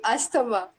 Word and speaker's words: asthma: Asthma. Yeah, I'm also Indian, but I always follow the international rules and standards. So it's asthma. Asthma. A, as z. It's a z sound.